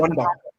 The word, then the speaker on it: Wanda: What's it Wanda. Wanda. Oh, is it easy as that? Wanda, yeah. Okay, I was getting all wrong. Wanda Metropolitano. But, yeah, we call it the Wanda.